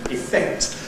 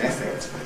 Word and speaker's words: effect: And therefore you had to use strong vowels and said affect and effect, which is an entirely,